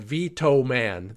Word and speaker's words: VTOMAN: This is a company that you may not have heard of called Vitoman. That's spelled VTOMAN.